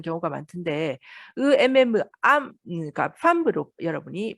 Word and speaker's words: femme: 그래서 요거를 여러분이 틀리게 발음하는 경우가 많던데 그러니까 femme로 여러분이 발음을 해야 됩니다.